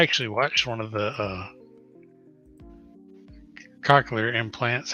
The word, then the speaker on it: cochlear: I'd say cochlear. You want to say cocky or Co- cochlear? Hey Yeah. Google, what's the correct pronunciation of cochlear? It's cochlear.